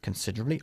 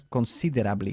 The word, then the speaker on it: considerably: Considerably, obviamente, significa... Considerablemente. Muy bien, pero ojo con la pronunciación. No decimos considerably, sino considerably. La E de en medio se omite, ¿ok?